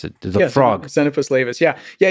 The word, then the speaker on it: Xenopus laevis: How do you pronounce it? Frog. Xenopus laevis, yeah.